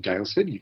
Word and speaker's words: Daylesford: We set out from our home in Daylesford. You pronounced it absolutely correctly.